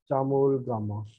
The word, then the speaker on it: Chomolungma: और चाइना या तिब्बत में कहते हैं इसको, तिब्बत जो है चाइना में, यहाँ पे इसको कहते हैं CHAMOLO, चामोल गामा।